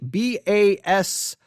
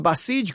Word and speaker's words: Basij: The Basij group, all right, Basij, B-A-S-I-J, B-A-S-I-J. I believe it is correctly pronounced Basij. If I am mispronouncing that, I apologize, but I believe that is correct.